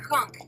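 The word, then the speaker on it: conch: is it Con or conk no it's pronounced con c o n t h but pronounced c o n k now you can fry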